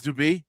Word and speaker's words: Duby: It's Duby. They use the Y like a Latin I.